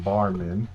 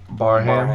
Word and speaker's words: Barham: Michigan, just Jay Sean Barman, I think I'm saying it right, but Barham.